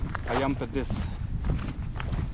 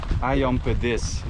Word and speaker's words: ayam pedas: It's called ayam pedas, and if you would say it in like a Dutch version, it would sound like ayam pedas, like very The accent on a different syllable.